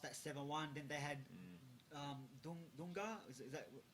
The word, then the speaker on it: Dunga: Then they had Dunga. Is that how you say his name? Yeah, Dunga.